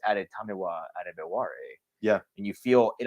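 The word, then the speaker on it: Adetomiwa Adebawore: Yeah, his name is fun to pronounce once you get it, because it's Adetamiwa Adebawore.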